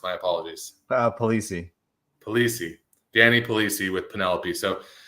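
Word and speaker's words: Polise: Penelope burban uh Mr Danny uh is it police I'm sorry I I should have asked how the your last name mispronounced my apologies uh poliy polii Danny polii with Penelope so Danny tell us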